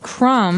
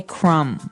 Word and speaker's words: crumb: everyone that the word crumb has a B on the end c r u m b but we don't pronounce the b we just say crumb yeah you don't say